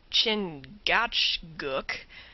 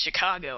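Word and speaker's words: Chingachgook: his acute Indian experts chin gatg pronounced Chicago I think has lost the trail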